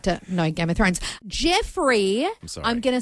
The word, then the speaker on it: Jeofrey: It's spelt Jeofrey, probably pronounced Jeffrey, but I want to say Joffrey, but it's not.